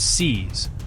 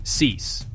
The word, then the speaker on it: cease: The pronunciation is cease, like the word seize. Let's say it, cease.